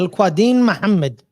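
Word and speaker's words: Al-Quadin Muhammad: Al Quadin Muhammad.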